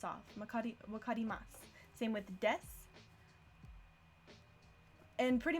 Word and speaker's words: わかります: Sue is usually pronounced Sue, except at the end of sentences like here. Then wakarimasu. Then the U sound kind of drops off. Wakarimasu.